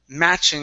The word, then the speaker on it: matching: last one here is matching instead of ma matching okay it's an a sound so we also had